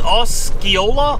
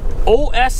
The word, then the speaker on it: Osceola: So this is Osceola? Osceola, Iowa? Is that how you pronounce it?